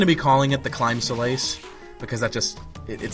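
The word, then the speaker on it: Claimh Solais: Solace which is what it looks like or claim soless that's what I've hear a lot of people calling it I'm going to be calling it The clim Solace because that just it sounds right to me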